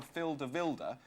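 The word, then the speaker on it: Filip De Wilde: And we had a a fax from Phil Smith who says, "On the subject of names, the Belgian goalkeeper Phil Dilda when pronounced correctly sounds remarkably like Phil the Builder by which I am well known in my village."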